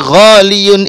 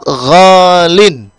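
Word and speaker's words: غالٍ: Nah, yang jelas dari ghaliyun ini kita membacanya dengan lafaz ghalin.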